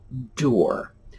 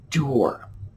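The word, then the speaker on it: dour: It's pronounced doer, just like tour.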